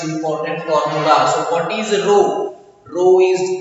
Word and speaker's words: rho: This is called rho. Now we have to say it as rho, R-H-O, rho.